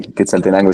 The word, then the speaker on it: Quetzaltenango: Y sí, lo pronunciaste bien, que saltenango. Está bien, está bien dicho.